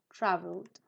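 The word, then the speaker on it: traveled: una que tiene sonido creo que se pronuncia con d al final Travel voy a buscar la Normita por acá Entonces si termina en l se pronuncia d Sí muy bien porque tiene sonido vibración en la garganta trav through the middle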